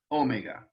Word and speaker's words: omega: of the greek alphabet omega with the accent on the first syllable omega the long o sound so let's put um